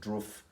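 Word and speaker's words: Drudkh: love this band uh i'm pretty sure you pronounce it it's spelt d-r-u-d-k-h but i think you pronounce it roof atmospheric black metal band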